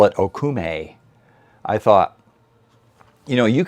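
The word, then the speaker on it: okoume: But the correct way to pronounce it is Akume. It has a Akume neck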